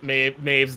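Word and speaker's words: Mebh: little girl wolf walker maeve um they say maeve it is spelled really weird it's like m-a-b-h or something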